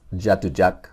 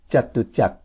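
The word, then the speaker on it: จตุจักร: Market in Bangkok called chatak it's not pronounced jatujak or jatu ja it's pronounced chatak you have to be very careful to keep the air inside your mouth and be careful not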